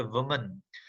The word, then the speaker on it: women: आप यहाँ पे वुमन, अब अगर सिंगुलर वुमन है जिसमें उसकी स्पेलिंग WOMAN आ जाती है, तो उसको हम प्रोनाउंस करेंगे वुमन, वुमन। ठीक है। अगर प्लूरल हो जाती है, सिर्फ एंडिंग में लास्ट में ई आ जाती है, WOMEN, जो कि प्लूरल हो जाता है बहुत सारी औरतें, तो उसे हम पढ़ते हैं विमेन। वुमन for singular, विमेन for plural.